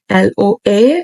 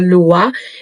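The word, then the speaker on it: lwa: Law of Attraction and in Creole we call those unseen forces or Spirits the Lua it's spelled both ways l o a or l w a through the rituals and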